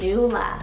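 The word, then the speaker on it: Nula: and this one means butterflies then we have neula spell n-u-l-a or n-u-a-l-a you can pick either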